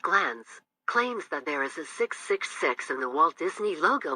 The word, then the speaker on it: ASICS: first a in a6 the last syllable of a6 s-i-c-s sounds like six put the three together